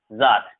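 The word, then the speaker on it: czar: यहाँ जेड से पहले सी जो होता है ये सी साइलेंट होता है, ठीक है। ये एक ही वर्ड है ऐसा जिसमें जेड से पहले सी होता है तो सी साइलेंट होता है, ये एक ही वर्ड है, जार इसे पढ़ते हैं, जार।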